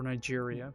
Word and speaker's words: Niger: You mean Niger instead of or Nigeria?